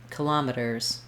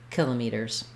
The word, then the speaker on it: kilometers: In this video, we'll look at how to pronounce parameters and kilometers, or kilometers, two correct pronunciations of that word.